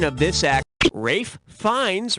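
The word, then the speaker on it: Ralph Fiennes: Rafe Fiennes rhymes with Safe Pines.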